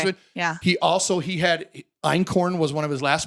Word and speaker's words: einkorn: we started talking about just this week einkorn flour. Are you guys familiar with einkorn flour? I don't know how to pronounce it. EINKORN. No. Einkorn. I thought it said It is elkhorn. no, it's not elk.